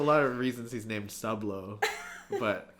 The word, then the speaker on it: Soobsoob: And I'm like, if you saw 10 seconds, you know it's Sublo because he's a submarine. Working at a sub shop. Yeah. There's a lot of reasons he's named Sublo, but it's okay though.